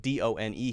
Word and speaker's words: done: And I could also put D-O-N-E here. Done, don, down. Done, D-O-N-E, is pronounced with the short U sound.